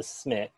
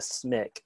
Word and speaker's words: SMIC: that you get is for 1.5 times the smick then you can change to a regular salary